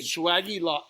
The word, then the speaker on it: Swagelok: Swagelok. Swagelok. So swage is like what you do. You swage it, and then when you swage it, it locks. So the cool thing about a Swagelok, it's a flareless fitting.